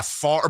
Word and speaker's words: Favre: but it actually works Favre yeah far but see because the way it's spelled like fav yeah but Favre again